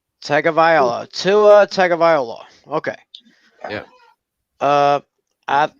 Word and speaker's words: Tagovailoa: His last name is pronounced Tagovailoa. Tagovailoa.